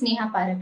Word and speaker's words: Neha Parak: Do we have Neha Parak, right? So am I pronouncing your name correctly, Neha? Yes, Neha Parak it is.